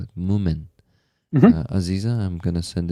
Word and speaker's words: Moomin: send you a little Moomin thingy on Telegram here so you can see what they look like.